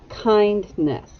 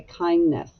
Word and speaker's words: kindness: you are showing them kindness now we often don't pronounce the d when we're speaking we just say kindness but it's kindness let's